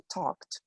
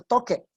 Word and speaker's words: talked: agrega una ed y esa ed nunca suena. En el caso de talked, de hecho lo pronunciaste muy bien porque cualquier otra persona hubiese dicho toque o talque.